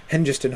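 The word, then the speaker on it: Hengest: I should pronounce Henist the way that Tom Shippy says we should. Uh Henist and Horsa to avenge Ao.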